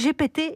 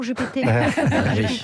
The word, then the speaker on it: Jupiter: Mais la maîtresse prononce Jupiter en pensant qu'omettre le R serait la bonne prononciation en français.